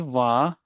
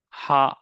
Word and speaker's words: は: So and when to say the most of the students have question like when to pronounce it as a ha or wa.